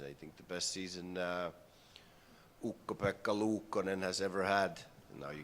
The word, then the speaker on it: Ukko-Pekka Luukkonen: I think the best season Ukko-Pekka Luukkonen has ever had. Now you get the right pronunciation of it.